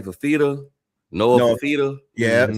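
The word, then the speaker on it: Fifita: Noah Fafita. Yeah, that's how you pronounce it.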